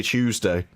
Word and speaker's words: Tuesday: You say it with a CH.